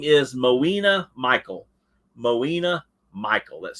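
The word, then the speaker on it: Moina: right yeah no clue okay the name is mawina Michael mawina Michael that's spelled m-o-i-a-n-a mawina Michael all right that was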